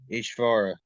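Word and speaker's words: īśvara: as as far right as far is when you have a little thing under over the S that's that's pronounced sh so it's ichvar ishvara the controller of his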